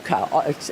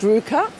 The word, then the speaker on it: RVCA: She does Ruka. It's pronounced Ruka. It's spelled RVCA.